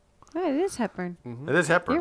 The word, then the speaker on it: Hepburn: Am I saying the name wrong? Am I totally wrong? Oh, it is Hepburn.